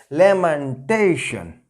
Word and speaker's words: lamentation: Now it will be pronounced as lamentation. The word stress will come before T.